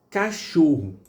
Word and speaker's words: cachorro: Cachorro, você está pronunciando um sh aqui, não é um sh. É um som só. É sh, sh, só um som. Então o que acontece? Você tem o H não sendo pronunciado. Quer dizer, ele desaparece nessa relação. Ele só veio para marcar que que esse C aqui ele vai produzir o som de sh.